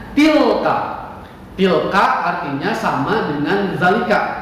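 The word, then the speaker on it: تلك: Bapak ulangi lagi, tilka. Dengarkan, simak baik-baik cara bacanya. Tilka.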